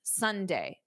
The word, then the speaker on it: sundae: The word Sunday is pronounced exactly as the day of the week. Sunday.